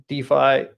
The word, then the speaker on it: DeFi: walls um so what are your opinions on defy uh duffy yeah so decentralized finance is what it stands for so i think d5 would be the correct pronunciation right decentralized and then finance yeah so d5 um so first of all right now in